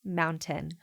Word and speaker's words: mountain: brain thinking I don't how do you pronounce mountain mountain oh K Mountain you don't say the tea you don't say the